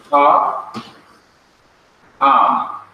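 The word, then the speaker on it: הָעָם: And to pronounce both of them, it is ha, am. This is not pronounced. The ion is not pronounced. Ha, am. Ha, am.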